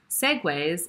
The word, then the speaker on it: segue: be spelled out perhaps i think it should be spelled out more like uh the segway scooters that you can see